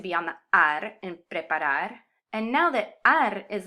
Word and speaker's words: preparar: in the consonant ere, my emphasis naturally wants to fall on the last syllable instead of the second to last. Preparar.